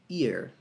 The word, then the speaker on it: ear: Acredite ou não, a pronúncia dessa palavra e essa palavra não é a mesma. Essa aqui é ear. Ear. E essa aqui é year. Year. Tem tipo uma espécie de vibração que você faz com a...